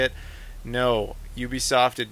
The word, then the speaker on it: Ubisoft: up in discussion uh Ubisoft that's how you pronounce it not Ubisoft we asked them very specifically though it's Ubisoft and uh thank you Ubisoft